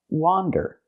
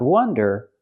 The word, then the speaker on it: wander: And the word is pronounced wander. Again, it has the open ah sound like hot and stop. Wah, wander. Not wonder, but wander.